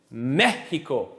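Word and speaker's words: México: Mexico. How many syllables in Mexico? 3. Where am I putting my push? On the first. So what does that tell me? Accent on the E.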